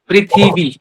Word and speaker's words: पृथ्वी: पृथ्वी ठीक है पृथ्वी पृथ्वी र प में ऋ री वाला र है तो उच्चारण करेंगे पृथ्वी भी ये जो लगा